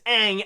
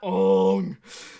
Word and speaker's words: Aang: I know better that his name is Aang and it's not owned seriously like well like just saying wrong it sounds more like a sound effect than an actual name